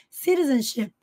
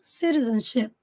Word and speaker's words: citizenship: Dual Dual citizenship citizenship aqui o t tá entre sons de vogais Então ele pode ser pronunciado com som de R principalmente no inglês americano citizenship citizenship ou citizenship citizenship dual com som